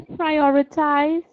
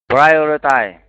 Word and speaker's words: prioritize: effective schedule okay again prioritize prioritize you need to say the z sound at the end TI okay let's go